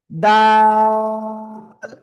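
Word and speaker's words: دال: এই অক্ষরটা হলো জিহ্বার আগা উপরে দুই দাঁতের গোড়া লাগাবেন, লাগিয়ে 3 আলিফ টেনে পড়বেন, জাস্ট 3 আলিফ। দাল, সবাই দাল।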